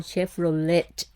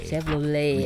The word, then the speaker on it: Chevrolet: And this car, Jan, in Thailand we call Chevrolet, but actually it's actually Chevrolet. You don't pronounce the T, right?